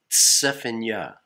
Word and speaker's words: Zephaniah: Elohim yo so the book of Zephaniah it's pronounced Safina T s EPA JN y ah4 yahwah but